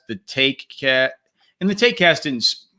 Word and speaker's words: TaekCast: the take cast didn't it's not spelled how do they find it oh yeah it's it's spelled it spelled like a joke because i didn't ever think i was gonna host this podcast for four years it's t-a-e-k but if you just